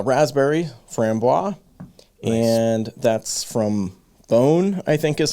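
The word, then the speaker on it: Boon: Francois and that's from bone I think is how they pronounce it you know looks like the word moon but pronounced bone right and uh this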